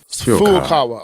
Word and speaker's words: Furukawa: Suntaro Furukawa, is that how you say that? Furukawa. Furukawa.